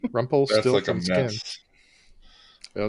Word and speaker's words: Rumpelstiltskin: that's my answer, but I have to pronounce it like Parliament does on the Motor Booty Affair. There's a song called Rump O Still Skin. So it's like a metal song. But Rumpelstiltskin.